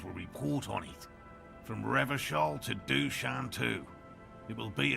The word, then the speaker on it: Revachol: He pronounces Revachol with a hard K, unlike other people. I like to pronounce it the hard way, the old way, the Vespertine way.